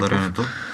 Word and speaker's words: Граматиков: Той е имаше и преди с нас Граматиков или Граматиков, не знам точно как е пуснал ударението. Граматиков.